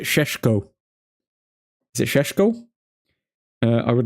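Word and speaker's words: Šeško: Admin, you're pronouncing Sesko wrong. Oh, there's always one. Go on, tell me. Is it Sheshko?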